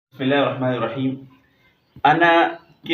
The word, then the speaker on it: انا: ا، نون زبر نا، انا وقفاً انا۔ اب غور کریں گے، وصلاً الف نہیں پڑھا گیا ہے، وقفاً الف پڑھا گیا